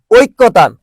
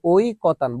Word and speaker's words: ঐকতান: ঐক্যতান, এই যে ঐক্যতান, আমরা কিন্তু সারা জীবন উচ্চারণ করে আসছি ঐক্যতান। কি বলতো? ঐক্যতান। এই তুই কি কস? কদি রানা, ঐক্যতান কস না? শব্দ ঐক্যতান, শব্দ হচ্ছে ঐকতান।